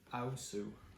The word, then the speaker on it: Aosu: It's pronounced Aosu, apparently. I read the blurb. Really? I have to get that bit right as part of the marketing. Ao like in how, Sue as in Sue the girl's name.